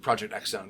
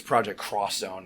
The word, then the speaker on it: Project X Zone: Capcom games, or the Project X Zone games at some point. So I've realized I think it's Project Cross Zone, and I've been saying it wrong the whole time, so I'm an idiot, forgive me.